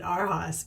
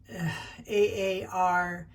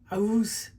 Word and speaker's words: Aarhus: It's, I pronounce it AARHUS, but it's AARHUS. And when I'm trying to listen to the gal say it, it was AARHUS.